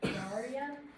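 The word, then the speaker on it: Cnidaria: Nadaria? Daria. Yes. It's I don't know if the C is silent.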